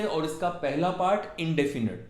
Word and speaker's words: indefinite: इनके पार्ट्स के नाम होते हैं, पहला पार्ट होता है इंडेफिनिट। अगेन इसकी प्रोनाउंसिएशन पे ध्यान दीजिए, इंडेफिनट। लोग इसे इंडेफिनेट बोलते हैं पर इसकी सही प्रोनाउंसिएशन इंडेफिनट होती है।